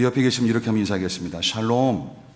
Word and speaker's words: 샬롬: 발음을 살롬 살롬이 아니라 샬롬 샬롬 샬롬.